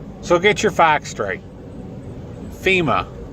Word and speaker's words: FEMA: supposed to have it it's FEMA fe ma not FM Fe M AR it's not femur that would be a leg bone so get your facts straight FEMA not femur it is